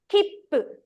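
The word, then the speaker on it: キップ: So this, we don't read it as su because it's small in size. If it's big, you have to read su. If it's small, don't pronounce as su. It's a fundamental rule in Japanese. Don't pronounce as su. Instead, the next sound, whatever consonant it starts, you have to double.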